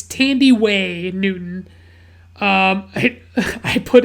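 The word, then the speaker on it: Thandiwe: it's like i had always seen it like misspelled without the w and i just thought it was tandy but like it's tandy way newton um i i put in my notes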